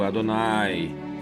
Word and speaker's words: Adonai: É um som longo, Adonai.